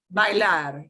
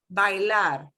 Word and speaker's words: bailar: Bailar, yeah. But now notice, don't pronounce it as bail. Oh, I right. know we've got an English word bail. We have to pronounce every vowel. Bailar.